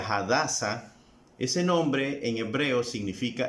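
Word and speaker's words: הדסה: ejemplo si tú dices el nombre de Esther que es un nombre en español pero que en hebreo se pronuncia hadasa ese nombre en hebreo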